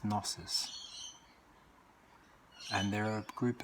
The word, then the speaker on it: gnosis: Another word for knowledge is gnosis, spelt just like that sounded, but I think it's pronounced gnosis.